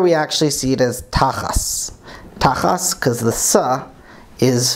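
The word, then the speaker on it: תחת: And the key word for me here is going to be, in modern Hebrew, tachat, but here we actually see it as tachas.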